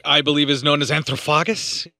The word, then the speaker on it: Anthropophagus: Which I believe is known as Anthropophagus, how it's pronounced.